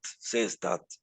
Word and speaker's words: Seestadt: Seestadt se escribe S-E-E, y después viene S-T-A-D-T, Stadt, Seestadt. Es un documental muy bien hecho.